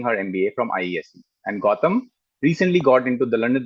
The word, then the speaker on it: Gautam: my name is Gautam. That's how we pronounce the name.